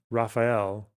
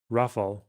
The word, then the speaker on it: Rafale: Raphael. Is that how you pronounce it? Rafal. Rafal. Raphael. Oh, you. Hang on. But it'd be fine in English to say Rafal. Rafal from French.